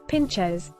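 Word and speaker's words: pintxos: pintexos Basque country's culinary gems in The Basque Country pintexos pronounced Pinchers are the gastronomic stars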